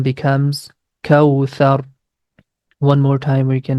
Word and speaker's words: كوثر: Letter tha we pronounce very softly.